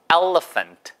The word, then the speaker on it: elephant: 생긴 거는 elephant처럼 생겼지만 이게 A 액센트가 있고요. elephant. 아시겠죠? 해보세요. 시작. elephant. 그러니까 발음이 elephant. 이 발음인 거예요. 그러니까 써 있는 거랑은 발음이 많이 다르죠. 예, 그러니까 elephant가 아니고 elephant.